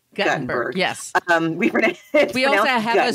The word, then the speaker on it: Guttenberg: Not Gutenberg. Guttenberg.